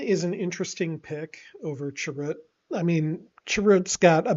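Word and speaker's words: Chirrut: than if you select Churret. So, sometimes if I see Churret on a I'm probably saying his name wrong and you guys are all like, "Oh my god, stop saying it. It's Chirut."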